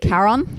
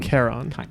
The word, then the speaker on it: Charon: I think it's pronounced like a k sound at the start, right? Charon. Yeah, it can be stylized either with a C or a K, and it is Chiron. Charon.